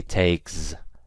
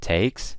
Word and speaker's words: takes: words like takes gets you pronounce it with an S okay so I don't say takes I don't use a Z I use an S ok so it takes and gets but what